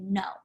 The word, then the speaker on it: know: however no and nowhere still pronounced the same way even though that there's a k um we don't say no we just say no it is a silent k so for this one